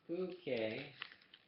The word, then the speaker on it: Phuket: She had read a future in the trial pages about the island of Phuket, pronounced Phuket, a tropical paradise that, according to the magazine, offered refuge from prying eyes.